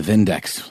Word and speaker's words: Vindex: with a German accent it's the vindex with a V that's right they uh